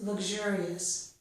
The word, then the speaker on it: luxurious: Lug gets the g sound. Luxury. Luxury. Luxurious. Okay? We don't stress the g. I'm just doing it so you can hear it. Okay? And the pronunciation with the two voiceless sounds would be luxury and luxurious. With k, sh, luxury, luxurious. Okay? But I pronounce them this way.